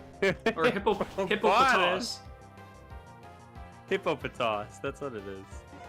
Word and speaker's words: Hippopotas: But this is a hippopotus, which isn't necessarily the Well, hold on. You didn't just say it like that. Hippopotas. Hippo are fine. No, no, no. Hippopotas.